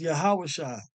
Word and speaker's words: Yahawashi: in the Greek Yus right his name is yahawashi and this yahawashi deliverer which is the same